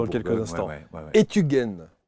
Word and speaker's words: Etugen: Etugen, ça se prononce comme ça? Etugen, ouais. Etugen, qui veut dire?